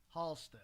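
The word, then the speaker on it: Halsted: Patio Fagans is at 204 North Halstead, Yeah, you can't pronounce the H.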